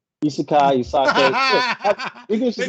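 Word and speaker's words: 異世界: So he decides to be Did you say Isake? Isekai, Isake. English is not my first language, so I'm gonna pronounce it.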